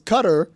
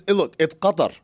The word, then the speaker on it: Qatar: It's Qatar. It's Qatar.